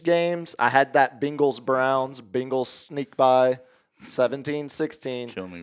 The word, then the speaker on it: Bengals: You're saying Bengals, like Bing Crosby.